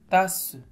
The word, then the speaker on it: tasse: zèbre oui très bien TASS non on a deux s oui on a deux S qui se trouve entre de voyelles mais il se prononce se pas TASS tasse visage oui la lettre